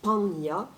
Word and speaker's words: 般若: En japonais, on prononce hanya, enfin le premier mot du sutra que nous lisons tous les jours. En sanskrit, on dit panya, mais peu importe, le